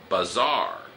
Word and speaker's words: bazaar: Ah, we call that a bazaar. ああ、アクセントが違うね。Bazaar.